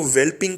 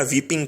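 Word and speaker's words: whelping: इसके एक्ट of parturition को वेल्पिंग कहते हैं या वीपिंग कहते हैं, एल साइलेंट है।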